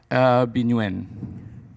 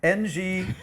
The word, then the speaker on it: Nguyen: How would you pronounce that, John? Binuen. Exactly, Nguyen.